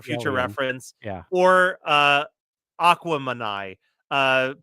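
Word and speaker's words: Aquemini: reference yeah or uh Aquaman uh pronounced to rhyme with Gemini because it's a mix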